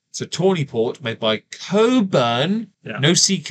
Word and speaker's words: Cockburn: it's spelled like that but the CK in the middle is silent it's Coburn well David never bothered